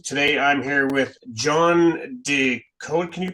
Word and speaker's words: DeGoe: Today I'm here with John Deote. Can you pronounce your last name so I don't butcher it? My last name is pronounced, not how it's spelled.